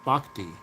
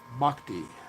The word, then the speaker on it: Bochy: Bhakti.